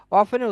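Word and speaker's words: often: হয় এডভার্ব of frequency অফেনের উচ্চারণটা দুই ভাবে হতে পারে সেটা হতে পারে এভাবে করে যে অবটেন অথবা অফেন আপনারা ইংরেজি স্পিচ গুলো নেটিভ কথা শুনলে আপনারা দেখবেন যে অনেক সময় অফটেন উচ্চারণ করে দুইটাই সঠিক অথবা আপনারা আপনাদেরকে আমি দেখিয়েছিলাম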